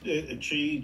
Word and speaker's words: Qi: chi chi uh key you call it Chi it's a chi coil q i c o i l is that correct yeah so Qi because in Chinese Chi is spelled with Qi yes okay so I